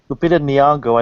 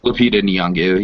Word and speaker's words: Lupita Nyong'o: Yeah, and Lupita Nyong'o, I don't know if that's how you pronounce her name, but Lupita Nyong'o, yes.